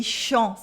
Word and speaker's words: champs: We have en sound and a silent S, dans les champs, and here we have the champ that I was telling you about. Champ, so silent P and S and a en sound.